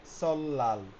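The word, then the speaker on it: 설날: সেক্ষেত্রে বলছে সলনাল নববর্ষ উচ্চারণ হচ্ছে হবে সলাল।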